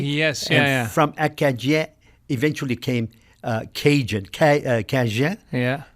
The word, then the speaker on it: Acadie: Their pronunciation would have been acadi, you know.